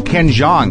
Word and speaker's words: Ken Jeong: have new underwear I'm okay I'm okay so Ken Jong right yes that's how you pronounce it yes now I honestly welcome to